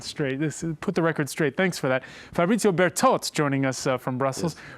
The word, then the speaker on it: Bertot: We say BERTOT like the French, I suppose. Is that the proper way to pronounce it? No, my correct name is BERTOT. BERTOT, oh, there you go. BERTOT, with the T at the end.